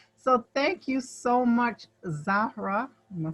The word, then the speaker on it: Zahra: So thank you so much, Zahra.